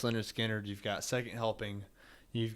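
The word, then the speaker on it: Lynyrd Skynyrd: And man, you got Pronounced Leonard Skinner.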